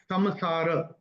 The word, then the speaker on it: संसार: तो संसार जो आपने बोला ना, एक्चुअल उसका रूल के हिसाब से उसका उच्चारण होगा समसार।